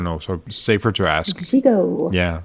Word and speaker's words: Gigot: Gigot. Yeah. T is silent.